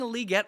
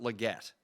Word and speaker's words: Legette: that is how you it's Le get that's that's how you say it is that how he said you say it because I can't understand a word he says that's how yes that is how because it's it's French right so it' be